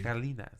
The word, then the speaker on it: Galinas: It is a hard G. Galinas.